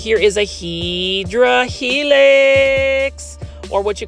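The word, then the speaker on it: Hedera: Like this one right here is a Hedra helix or what you call the correct way to say it is hideera helix sterling.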